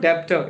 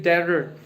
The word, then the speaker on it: debtor: It is not debtor, it is debtor. Okay, B is silent.